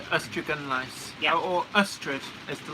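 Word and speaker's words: Ystradgynlais: Leslie Gilpin says, Ystrygynlais, or who strangled Alice, as a mate in Swansea used to call it. But it is pronounced Ustragunlice.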